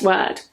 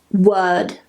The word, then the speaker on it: word: look at the first word word word notice that the r is silent it's not pronounced and why is that